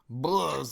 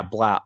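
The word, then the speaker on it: Blough: Blah's there.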